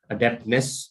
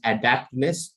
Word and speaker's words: adeptness: okay so deficiency and adeptness it's not pronounced as adaptness adapt is a different word adapt this is adept when you're adept at